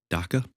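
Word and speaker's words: dukkha: it I believe and I believe it's called DACA or spelled spelled Dua but pronounced Daka it's essentially suffering there's the ego the ego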